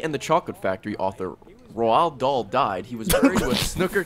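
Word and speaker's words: Roald Dahl: the Chocolate Factory author roal doll died he wased with snooker cues It's the funniest way I've ever heard roll doll pronounced roll doll Fe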